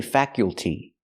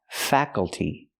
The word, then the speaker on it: faculty: faculty extracurricular activities pronunciation we don't say faculty the word is pronounced faculty the U is a short u sound like cup and up faka faka faculty the a is a short ass sound like black cat fa fa faculty not